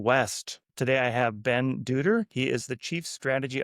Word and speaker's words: Dutter: I'm I'm Ben Dutter. It's like butter with a D, I always say.